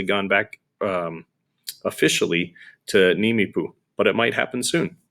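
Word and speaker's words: Nimiipuu: themselves nimipu as you it looks like a a lot more vowels there but it's pronounced nimipu isn't that fun to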